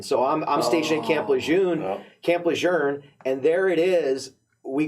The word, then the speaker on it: Lejeune: Camp Lejeune is the right way to say it. They actually did a whole message campaign trying to push that.